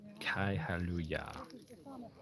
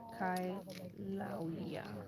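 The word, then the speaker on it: Kīlauea: It's pronounced Kailuya. Kaihaluya. Kailauya.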